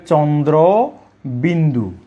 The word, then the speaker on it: চন্দ্রবিন্দু: তারপর আমি যদি আরেকটি বর্ণের কথা বলি, সেটি হলো একেবারে খুব সুন্দর একটি উচ্চারণ, যে চন্দ্রবিন্দু। এইভাবে চন্দ্রবিন্দু।